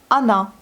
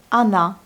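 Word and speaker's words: она: Ensuite, on a Ana. Vous voyez, le O n'est pas accentué. Il se lit comme A. Ana, mais ça s'écrit comme O.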